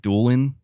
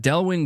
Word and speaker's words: Delwin: wrong this whole time I've been saying like duelan so I'm sorry about that but Delwin Jones thank you so